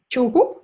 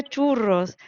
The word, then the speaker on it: churro: Churro, menina, yo quería churros, pero aquí como la eje fuerte la pronunciamos como J y vuestra she como shu, pues me salía a decir churro.